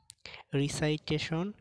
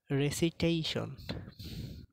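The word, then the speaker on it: recitation: রিসাইটেশন, রেসিটেশন। Enjoy, এটা ভুল উচ্চারণ, এটা হবে এনজয়।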